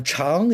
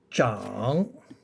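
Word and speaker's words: 长: Uh cháng is long or length. There's no problem. Shénme shénme hěn cháng. Okay? However, this Chinese character has another pronunciation. It's called zhǎng. Zhǎng, third tone, which means to grow.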